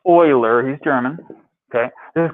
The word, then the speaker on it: Euler: of leonard euler i know it looks like euler but it's pronounced euler he's german okay this is called euler's number